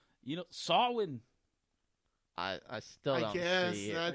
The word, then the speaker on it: Samhain: If y'all look at it, it looks like it's spelled Samain. It's Samhain. But it's Celtic, so I guess the pronunciation, you get that little Scottish, Samhain.